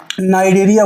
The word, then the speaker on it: Cnidaria: चाहूंगा जिसको हम लोग नाइरिया बोलते हैं वो भी सी से स्टार्ट होता है क्योंकि सी जो है वहां पर साइलेंट है और इन दोनों के